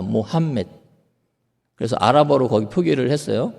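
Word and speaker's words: محمد: 자, 그렇다면 이 이슬람교가 어떻게 시작됐는지, 마호메트의 일생과 이슬람의 시작. 사실 마호메트의 발음이 어디서 왔는지는 모르겠는데요. 제가 북아프리카에서 15년 사역을 하고 그다음에 아랍어 사전을 편찬하면서 정확한 발음이라고 거의 말씀드릴 수 있는데, 모함мет입니다. 모함멧.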